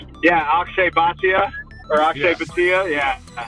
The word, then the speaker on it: Bhatia: Do you say it Batia? Yeah, Akshay Bhatia or Akshay Yeah.